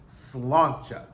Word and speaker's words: Sláinte: I'm here with another review of The Real Housewives of New Jersey, Season 13, Episode 11, Sláinte. That's how you pronounce the word.